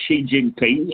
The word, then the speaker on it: Xi Jinping: is she and so when you pronounce Xi Jinping it's she not g or anything of that nature you remember Joe and